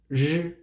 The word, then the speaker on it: r: It sounds a little bit similar like the beginning of some English words. For example, run, rush. So we use that pronunciation R. R. You still need to roll your tongue, please.